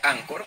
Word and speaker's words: Anchor: ch Ok como ancho se pronuncia anchor pero se escribe ancho con con ch Ok esta aplicación les